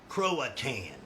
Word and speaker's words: Croatan: Croatan is actually how you say it.